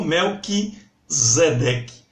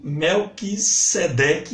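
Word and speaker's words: Melquisedeque: mel que a cedec e não mel que zemeckis isso porque o s em grego nunca tensão dizer nunca só também nunca então tá escrito mel que sedec e é assim que deve ser pronunciado se você estivesse efe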